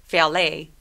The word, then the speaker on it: valet: 처음 시작할 때 V니까 발음이 새어 나와야 돼요. Valet, valet, valet가 아니라 valet, valet.